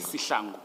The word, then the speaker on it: Sihlangu: This case officer would then be Warrant Officer Shihlangu. Is it pronounced Shihlangu or Sichlangu? Sihlangu. Sichlangu.